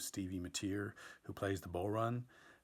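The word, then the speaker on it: bodhrán: For instance, I have an interview on tonight's episode with Stevie Mateer, who plays the bull run, which is not pronounced the way that it's spelled.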